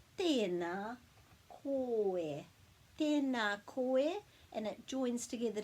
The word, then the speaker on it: Tēnā: So there's macrons on both of those vowels, so it just pulls those sounds out a bit longer, so it's just not tēnā, it's tēnā. Tēnā koe. Tēnā koe, and it joins